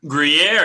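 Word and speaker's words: Gruyère: I don't want to get too much back into the old podcast, but I'm probably going to mispronounce this. Is it Gruyere? Gruyere, yes.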